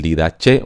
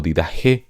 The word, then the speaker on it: Didache: El Didache o Didaje, como algunos lo pronuncian, la epístola de Bernabé,